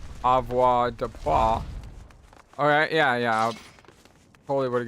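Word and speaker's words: avoirdupois: I know it's pronounced Avoir de Poix.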